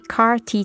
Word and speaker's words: CAR-T: Valentina is considered eligible for the experimental treatment CAR-T therapy, pronounced simply as CART in Spanish.